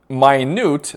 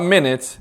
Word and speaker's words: minute: The word minute, not minute, is actually pronounced differently here. In the passage is closest in meaning to what? Okay, but let's say in your head you did pronounce this as minute.